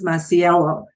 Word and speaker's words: Masiello: legacy podcast I have with me today Chris maciello Chris did I pronounce it correctly you did well it's great